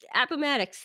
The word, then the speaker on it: Appomattox: at i'm gonna butcher the same abba mad Appomattox Appomattox ok April ninth nineteen you do that great 1865 yeah I know the date just Appomattox there we go you know that guy anyways